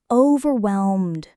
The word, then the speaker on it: overwhelmed: Overwhelmed, like the D is just barely there. Exactly. Just a gentle landing, and the stress is on whelm. overwhelmed You know what actually helps me with this stuff is shadowing.